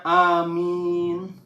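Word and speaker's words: aamiin: Dan sahabat-sahabatku, dalam Islam itu kata amin itu A-nya 2 dibacanya amin.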